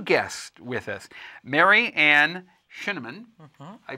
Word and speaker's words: Scheneman: Mary Ann SCHENEMAN. I pronounced it right, didn't I? It's like cinnamon.